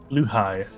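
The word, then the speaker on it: Blåhaj: It'd be Blahaj if it was Croatian, actually. I don't know what it is in. All right, I need to respond to this text. No. Pronounce Blahaj. Luhai.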